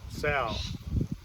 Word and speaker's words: sau: me talking and emphasizing the idea of sow SAU we spell it in English the Chinese word meaning